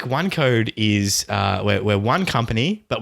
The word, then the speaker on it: OneQode: So I've been working on a telecom startup for the last almost a year, actually, called OneQode. What is OneQode? How is it spelt? It's spelled ONEQODE.